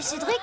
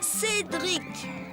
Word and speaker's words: Cédric: Moi, Cédric. Répète, Cédric. Cédric. Non, pas Cédric. Cédric. Cédric. Dric. En Chine, ils prononcent pas les R, ils mettent des L à la place.